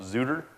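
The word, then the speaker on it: XueTr: called PC Hunter, aka, and the pronunciation's way up, Zooter. And I call it that because, well, it has an X, T, and R in it.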